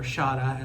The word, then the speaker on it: Shada: season 17 in as the season finale called Shada or Shada as it's in the pronounced in Australia and um the UK was